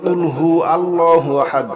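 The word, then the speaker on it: قُلْ هُوَ ٱللَّهُ أَحَدٌ: কুল না বলে যদি বলেন কুলহু আল্লাহু আহাদ তাহলে হবে খাও তিনি আল্লাহ এক দ্বিতীয় নাউজুবিল্লাহ এ কফ আমরা অবশ্যই গলার ভিতর থেকে বলব ঠিক আছে কুলহু আল্লাহু আহাদ কফ লাম পেশ কুল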